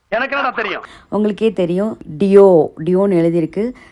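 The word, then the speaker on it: Dior: என்னோட first deo back. எனக்கு பிடிச்ச மாதிரி அழகாக அந்த மினி லேடி டியோ அப்படின்னு சொல்லுவாங்க. ஆர் சைலண்ட்டாக தான் ப்ரொனவுன்ஸ் பண்ணணும்.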